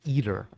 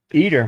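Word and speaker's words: ITER: dr ninja brian what that's easy to remember now has the word eat in it yeah eater huh inner or eater it's eater apparently peter yeah like like e-a-t-e-r and apparently they're ditching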